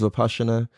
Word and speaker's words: Vipassana: It's spelled Vipassana, but it's pronounced Vipassana.